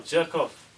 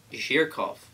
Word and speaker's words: Zhurkov: uh J J oh jerk off and we is chatting about something that is well important yo big got yourself respect well sir my name is actually pronounced Mr H jirov yo whatever you says